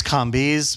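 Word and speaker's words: Kambiz: um my name is kiz my daughter says it rhymes with zombies it's an old Persian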